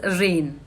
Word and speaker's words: reign: Attach करूंगी तो वो रेन्स बन जाएगा, लेकिन नहीं, प्रोनाउंसिएशन में रेन्स के एक स्पेलिंग और भी होते हैं। REIGN भी रेन होता है, REIGN भी रेन ही होता है, ठीक है।